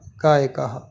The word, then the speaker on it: गायकः: गायकः, गायक नहीं, गायक नहीं कहेंगे। क के साथ विसर्ग जुड़ रहा है तो उसका उच्चारण होगा गायकः गायति।